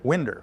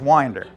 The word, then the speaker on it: Winder: I always pronounced it Winder who wouldn't um sort of sort of like my mother pronounced the little Square things in the side of the house but it's it's Winder he was a uh